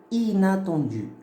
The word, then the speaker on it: inattendu: Parce que je n'ai pas prononcé 1. J'ai dit inattendu. Ina. Ina. Ok? J'ai pas dit 1. J'ai pas dit inattendu.